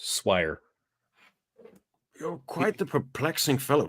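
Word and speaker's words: soirée: you at the next Suare I believe it's pronounced swi you're quite the perplexing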